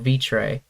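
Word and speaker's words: Vitré: The place that I would go to is a place called Vitre, which is not does not do the French pronunciation justice, but I'm just for simplicity's sake, I'm just gonna say that because I'm American and I Americanized the pronunciation.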